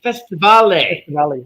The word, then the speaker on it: Festivale: Festivale. And they pronounce the E. They pronounce the Festivale.